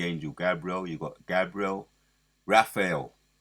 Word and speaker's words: Raphael: Gabriel you got Gabriel Raphael let me say it right it's Raphael he's in control of